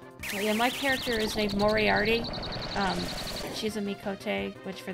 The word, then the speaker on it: Mohriahti: Yeah, my character is named Moriarty. She's a Mikote, which for those unaware are the cat people. I spell it Mohriahti. Because I guess they use H's in their names, they're silent.